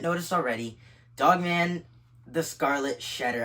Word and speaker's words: Shedder: already Dogman the Scarlet shedar I've been pronouncing it uh shedar since the beginning of this video last video I was pronouncing Shredder cuz I thought there was an extra R after the E however I still think